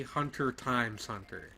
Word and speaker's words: Hunter x Hunter: about Hunter hunter what the X in the title is not pronounced it should be hunter x hunter yes are they asking